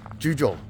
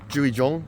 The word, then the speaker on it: Jugiong: juj and uh I think that's how you pronounce it juj I was listening to people last night in the beer garden talking ju Jong not juy Jong I don't know what I was calling it